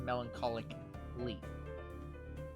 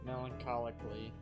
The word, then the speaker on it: melancholically: melancholically melancholically yeah you I don't think you pronounce the a in that the second a I think you just pronounced that melancholic Lee melancholically then plots for laying